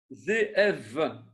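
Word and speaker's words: זאב: Zéev. Oui. Zéev. Oui. Donc, c'est un vet. Il faut prononcer le vet. Il faut dire v. Donc, c'est Zéev.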